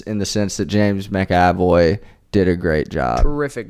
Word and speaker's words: McAvoy: seeing split with James macavoy directed by M Night Shaman it's James McAvoy but Tyler has uh decided it's going to be mavo so I really should